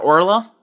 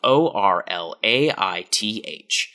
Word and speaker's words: Orlaith: Her name was spelled o r l a i t h and has been subject to all of her teachers and peers every year calling her Orlaith.